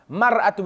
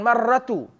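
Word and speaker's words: مَرْأَة: selepas daripada rok huruf Ro Ma Ratu bukan Mar Ratu kalau ejaannya massa tumor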